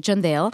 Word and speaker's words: Chandel: usually at school so my name is chandell the Indian Way is Jen Dale but in school for